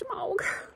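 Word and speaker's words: shemagh: I love this shemaug.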